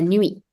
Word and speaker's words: nuit: La nuit.